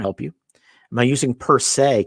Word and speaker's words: per se: But you could probably tell that, and it looks like per se, right? But it's usually pronounced per se.